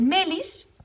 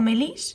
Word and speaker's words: Melis: y luego tenemos el melis que creo que no lleva ningún acento en ninguna parte por lo tanto sería mail melis no me lis sino melis y luego tenemos a